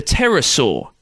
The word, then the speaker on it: pterosaur: who did fly the pterosaur which is confusing to look up online because there's a silent p at the start just thought i'd warn